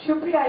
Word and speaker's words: Supriya: And I'm also delighted to have Supriya here today. You don't mind me pronouncing it in the Bengali way?